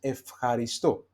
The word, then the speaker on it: ευχαριστώ: Okay, so that's why we pronounce it as ευχαριστώ.